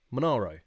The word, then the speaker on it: Monaro: name uh the mole the oh the monaro monaro that's it that's how you say it that's